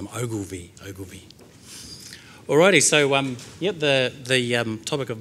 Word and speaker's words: Ogilvie: Yeah, that last name there, it's a strange name, it's pronounced Ogilvie.